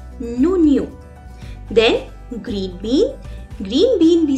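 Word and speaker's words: oignon: Onion, to onion, we say onion, and it's masculine as well, so I will write down as a before it, and it's pronounced as nonio.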